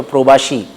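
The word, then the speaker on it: প্রবাসী: हमको प्रवासी या बंगला उच्चारण में कहें तो प्रोबाशी बंगाली कहा जाता है।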